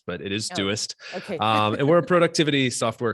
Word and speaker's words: Doist: company you set it correct is dewist often pronounced deutsch but it is duest and we're a productivity software company so we